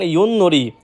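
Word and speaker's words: 윷놀이: এরপর রয়েছে ইউননরি। আমরা প্রায় সময় এটাকে নরি উচ্চারিত করে থাকি, যেটা সম্পূর্ণরূপে ভুল। সঠিক উচ্চারণ ইউননরি।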